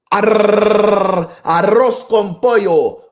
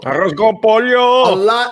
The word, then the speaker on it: arroz con pollo: I was actually saying this the other day to somebody that, if you speak Spanish, you have to roll your R's, right? Arroz con pollo. Okay, well, Arroz con pollo.